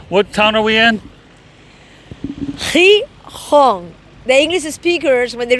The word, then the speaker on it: Gijón: Gijón.